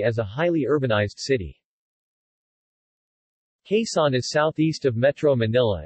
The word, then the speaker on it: Quezon: Quezon, Tagalog pronunciation, Quezon, is a province of the Philippines in the Calabarzon region of Luzon Island.